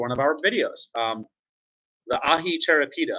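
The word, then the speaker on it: ají charapita: The ahi charapita, I believe that's how it's pronounced. Some people might say aji, ahi charapita pepper plant.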